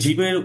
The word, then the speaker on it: جيم: সাধারণত জয়ের মতো উচ্চারণ হয়, বাংলা যে বর্গ জ, এই জয়ের মতো উচ্চারণটা হবে।